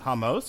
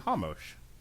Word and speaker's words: Ramos: For the last time, in Portuguese, R's are pronounced like H's.